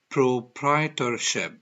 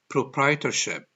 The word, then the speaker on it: proprietorship: forms the first one it's called proprietorche let's pronounce it correctly one more time it's called pro prai tor shep proprietorship one more time proprietorship the second form partnership and the third one